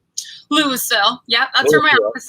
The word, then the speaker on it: Louisville: Now, do you pronounce it Louisville or Louisville? Louisville.